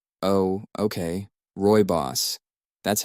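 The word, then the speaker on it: Rooibos: that spiff quickly searches and finds the proper pronunciation oh okay Roy boss that's how you say it okay odd right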